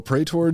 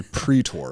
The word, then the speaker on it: praetor: the end so a prey tour doesn't uh it's actually pre-tour right the way that it's spelled is p-r-a-e-t-o-r but it's pronounced pre-tour instead of pre-tour so